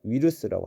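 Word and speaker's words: ウイルス: 바이러스를 일본어로는 위루스라고 합니다. 일본어 이제 초급 때는 상관이 없습니다만은 중급 그리고 고급으로 올라갈수록 가타카나어를 정확하게 발음하는 연습을 많이 하셔야 돼요.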